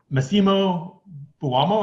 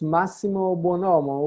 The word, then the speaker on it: Massimo Buonomo: It's Massimo Buonomo, which actually means the best good man.